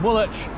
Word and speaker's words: Woolwich: now i'm somewhere between woolich and greenwich if you look up how you spell both woolich and greenwich it's very confusing because the w is for some reason not pronounced an even name and